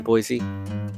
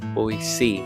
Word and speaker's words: Boise: It was at I think it was the Morrison Center in Idaho, or in Boise. Boise, not Boise. That's how they pronounce it.